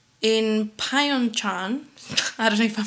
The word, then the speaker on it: Pyeongchang: by north korean minders in pyeongchang i don't know if i'm saying it right